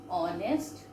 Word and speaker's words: honest: H is silent. So we are pronouncing here an honest boy.